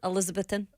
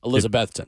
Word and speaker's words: Elizabethan: Elizabethan. Elizabethan. No. Elizabethan. No, Yeah, no, no, no. I always. Elizabethan. Yeah, I always get that one wrong. It's like too. you better put the emphasis on Beth.